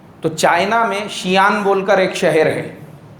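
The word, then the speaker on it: Xi'an: اس کو ہم لوگ انڈیا کے حساب سے کچھ لوگ اس کو زیان پڑھیں گے، وہ زیان نہیں ہے، وہ اس کو پڑھنے میں شیان پڑھا جائے گا.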